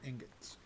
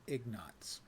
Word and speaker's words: ingots: A guy in my old Latro guild used to pronounce it Ignots. He was a really cool guy, so none of us corrected him. But I certainly wanted to go, dude, it's ingots, not Ignots.